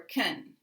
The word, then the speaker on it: can: So in a sentence, can, a modal, unstressed, will sound like can or ken, ken or ken.